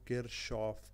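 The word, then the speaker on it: Kirchhoff: laws है ठीक है इसको किर शॉफ किर एस एच आप समझ ले ओ एफ किर शॉफ इस तरह पढ़ेंगे ठीक है तो यह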